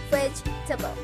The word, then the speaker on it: vegetable: the first plot is vegetable this wood is challenged because it's look like that should be four syllables in this form but it's not there are three syllables vegetables can you see